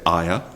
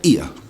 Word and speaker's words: Ia: Lots of people say Aya, and some people say Ia. I prefer Aya because then you link it to the name of the town, Ives.